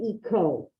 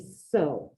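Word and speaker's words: hizo: Well, now we got to change the C to a Z because we don't want the cut. Otherwise, I have ise, isiste, eco. I don't want eco. I need iso.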